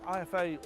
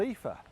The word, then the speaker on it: IFA: But the only problem is I've been saying IFA all wrong. It's not called IFA, it's called Ether.